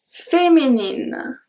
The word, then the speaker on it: féminine: So here, if there is no E at féminine, the pronunciation will be féminin. Féminin. That would be a totally different pronunciation because the IN at the end makes the sound A.